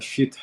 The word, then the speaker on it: شیت: حضرت آدم علیہ السلام کے بعد اگر ہم حضرت شیس کے زمانے میں ہیں، کہ جو ان کا اصل تلفظ ہبرو میں شیت ہے، ان کے زمانے میں اگر ہم ہیں تو ہمیں انہیں ماننا ہوگا.